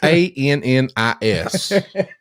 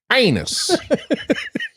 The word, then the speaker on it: Annis: It is Annis. Annis, yeah. Annis. Not the other one. What? How's the other one said, Jason? Anus. That's funny because, in the South, we could say something like that anyway.